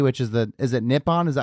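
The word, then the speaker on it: Nippon: the uh npb which is the is it nipon is that how you say it yes NE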